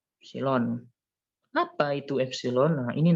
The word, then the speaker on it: epsilon: Ini bacanya epsilon ya, epsilon.